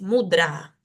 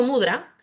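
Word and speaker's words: mudrā: lo cierto es que esa palabra lleva una a larga es mudra ahora si yo digo mudra estoy diciendo alegre estoy teniendo otro significado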